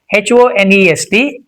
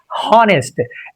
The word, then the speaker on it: honest: And if you look at this word H O N E S T, it's not honest. People take pressure to pronounce this word, but it's not honest. It's honest. Just honest.